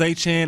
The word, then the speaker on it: Etienne: You got to pronounce his name correctly. Oh, that's right. He changed it. He changed the Achan.